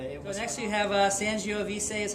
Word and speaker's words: Sangiovese: But it was next you have Sangiovese is how I say it.